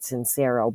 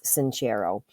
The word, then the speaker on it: Sincero: and start living an awesome like by Jen sanchero by the way I used to pronounce it sincero but it's sincero okay another New York style New York Times